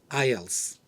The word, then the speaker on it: IELTS: Mentor podcast series topic I TS which is pronounced as ILS International English language testing